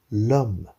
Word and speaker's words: homme: Et ensuite, on a l'homme qui a un H muet. Donc, c'est comme si ce H n'existait pas. Et donc, on devra dire l'homme.